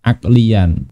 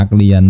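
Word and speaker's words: عقليًا: Wad dalilu, dan dalil itu imma ayyakuna aqliyan, ada kalanya aklian. Kenapa aklian bacanya? Selain tulisannya ini ada alifnya, dia sebagai apa? Ada kana yakunu, ini apa? Ada kana wa akhawatuha. Sebagai apa? Khobar kana.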